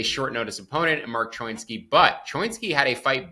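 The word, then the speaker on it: Choinski: It's actually Choinsky. I was watching his last regional fight, and they kept saying Choinsky, and I was like, that looks like it should be not pronounced Chowinski, but I'm going to say Choinsky because that's what the fight announcers were saying.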